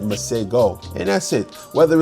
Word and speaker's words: Masego: Like, if if he would have put it in the description of his, um, profiles Maseho, we would have all said Maseho. But, we've been It's been pronounced and said Masego.